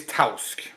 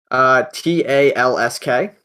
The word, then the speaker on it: Tausk: Their name is Tausk. Okay, how do I spell that, please? Try. Talsk. Wrong. Ah! Like this. Oh, Tausk. I thought you said Talsk. No, Tausk.